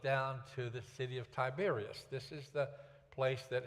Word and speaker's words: Tiberias: It ends in AS, but all of them are pronounced Tiberias.